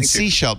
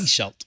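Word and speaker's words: Sechelt: Have a great day in Seashelt. Now I know how to say it. Yes. Seashelt. Seashelt. You're right. When I look at the spelling, it looks like Sahel.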